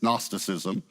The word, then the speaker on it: Gnosticism: The G is silent. It's Gnosticism. It means knowledge.